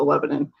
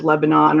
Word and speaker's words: Lebanon: has a Lebanon. Depends on where you are. It's Lebanon or Lebanon. We pronounce it the latter.